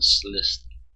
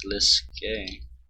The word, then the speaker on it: Sliske: Someone called Slist and something about a game. Slist? Who's that then? Never heard of them. It's pronounced Sliske, since no one can pronounce it.